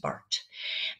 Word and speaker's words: Barth: It's spelled Barth, but it's pronounced Barth.